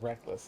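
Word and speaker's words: Reklas: into such uh and although it is spelled r e k l a s it's spoken as reckless in the common tongue with that intention um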